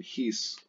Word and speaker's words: his: Now the H, even in classical Latin, the H in his would be very slightly pronounced.